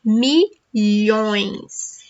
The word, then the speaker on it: milhões: So, practice this word, milhões. It has two important sounds, the letters LH together and the on, the nasal sound. So, milhões. Okay?